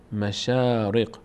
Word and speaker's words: مشارق: نمیگیم نمیگیم مشرق مشرق این شین چون فتحه داره بعدش الف قرار گرفته شین فتحه‌دار تبدیل به آ میشه میشه شا مشاارق مشارق مشارق کلمه بعدی میم میم